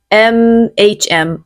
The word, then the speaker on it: mhm: 1つ目は mhm です。 We spell this m-h-m. Mhm. スペルはm-h-mです。 Okay, we usually say it like this. Mhm.